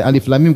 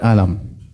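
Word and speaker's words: الم: baca z y d seperti Alif Lam Mim kita Bacanya apa Alif lam mim bukan alam paham jangan sebaliknya ada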